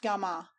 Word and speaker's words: gami: Hitherto the mosques had been of one form only that of the gami commonly pronounced gama and meaning a place of assembly or congregational mosque where along the Friday prayers gum and sermon take place.